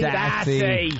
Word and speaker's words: Stassi: Stacy or Stassi? Stassi.